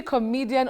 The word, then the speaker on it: comedian: No, you don't say comed. It's come. Comedian not comedian.